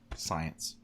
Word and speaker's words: science: P isn't in the word science. It is. It's silent at the beginning. It's just like this word. No, the C is silent already. It's got both the silent P and the silent C.